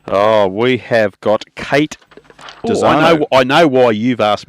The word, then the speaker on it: Dezarnaulds: Look, it's Kate Dezarnaulds, so it's as if it had no on the end, but yeah, there are a whole lot of letters, but not much.